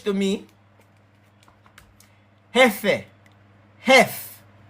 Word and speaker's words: jefe: Jefe, hef, F, jefe, jefe, jota, ka, jefe. It sounds like this to me. Efe. It's spelled this way, but the J sound like a H in a English.